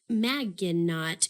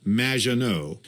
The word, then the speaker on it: Maginot: have mispronounced my name it's madge which rhymes with badge uh as in duh and no as in more than you maginot anyway thank you for